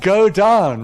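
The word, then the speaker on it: godown: that word was pronounced God own right but of course it's not it's pronounced go down right and it's a word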